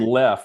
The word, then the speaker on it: Leff: Not too many people named Leff, which is spelled Leff. I tell people it's like Jeff with an L, and then is.